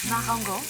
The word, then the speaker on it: Marengo: Oh, Marengo.